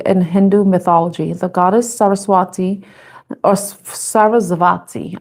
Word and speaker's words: Saraswati: The goddess Saraswati or Saraswati. I think that's how it's pronounced cuz I think the W is pronounced with a V.